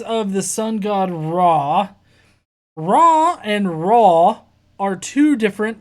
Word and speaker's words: Raw: Okay, Raw, like the sun god Ra, but it's spelled R-A-W, like raw chicken.